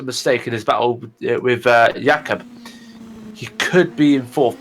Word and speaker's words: Jakob: And Peter Jones, this battle with Jakob, not sure how you pronounce that. It's Jakob.